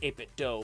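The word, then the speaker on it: 8BitDo: the 8-bit do controller some people say 8-bit doe and officially the company said it's pronounced uh 8-bit do but i like 8-bit dough better because nintendo 8-bit dough etc that kind of thing ah robin's here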